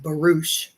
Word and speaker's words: barouche: It's pronounced barouche.